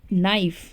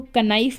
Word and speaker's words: knife: for example, जैसे कि हमारे पास वर्ड है नाइफ, नाइफ, ठीक है बेटा, ये KNIFE है, इसको कनाइफ नहीं पढ़ेंगे, K इज साइलेंट, और जब हम इसको